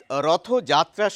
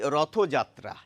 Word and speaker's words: রথযাত্রা: উচ্চারণ লিখেছি রথযাত্রা। তার নিচে লিখে রেখেছি রথযাত্রা। তো আমরা যখন রথ নামক শব্দটি আলাদাভাবে বলি তখন কিন্তু রথই বলি। কখনো বলি না রথ।